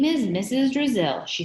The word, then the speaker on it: Drazil: i said i wasn't from brazil said mrs drazil have you ever been to brazil asked eric